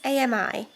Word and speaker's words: Ami: has a twin sister I don't know if it's pronounced Amy or Amy it's Ami and she is getting